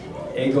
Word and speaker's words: eigo: E, it's like an E-I, and then go at the end.